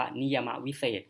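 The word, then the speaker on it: นิยมวิเศษณ์: จะ อ่าน ว่า นิยม แต่ ถ้า มัน เป็น คำ วิเศษณ์ ที่ คือ มัน จะ อ่าน ว่า นิ ยมา วิเศษ ก็ คือ ความ ชี้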